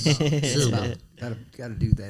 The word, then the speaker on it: Shelbyville: You It's in- got to it's in- run the syllables together. It's Shelbyville.